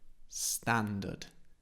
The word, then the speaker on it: standard: the pronunciation bog bog standard standard standard again I don't pronounce the r i don't say standard